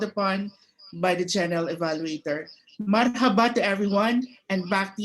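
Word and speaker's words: مرحبا: It is pronounced as marhaba.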